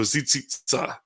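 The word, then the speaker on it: Tsitsistas: But he told me that the original name of the Cheyenne was Tsitzitsa, which means the people of the fringes. And it sounds just like Zitzit in numbers. So Tsitzitsa is how they pronounce it.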